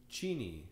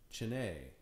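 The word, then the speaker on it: Cheney: It's Chini, not Chine.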